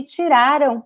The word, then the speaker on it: tiraram: And here the stress is ra. Tiraram. The end is very weak. The am sound is very weak because it's not important, it's not stressed. Estudaram. It's very weak.